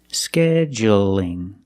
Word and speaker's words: scheduling: a dark L but when I say scheduling is it dark or light that's right it's light because the L is between vowels scheduling so you can say